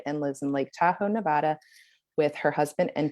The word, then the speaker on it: Nevada: I have been told many times that it's Nevada, not Nevada. Nevadans get really... You're right. I have said it wrong Nevada. before, and Lori Winfelt has corrected me as well. Yeah, Nevadans do that.